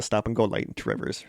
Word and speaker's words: Two Rivers: Now, if you're from Two Rivers, it's pronounced Trivers.